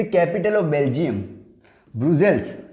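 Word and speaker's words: Brussels: Capital है, Belgium की capital है ब्रुसेल, नॉट ब्राज़ील, ब्रुसेल। इसको मैं हिंदी में लिख देता हूँ, प्रोनाउंसिएशन दिक्कत ना है।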